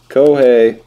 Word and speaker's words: Kohei: kohei arihara for texas kohei rhymes with shohei could be a sign